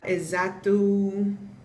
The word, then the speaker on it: exato: Exato. X's make a Z sound.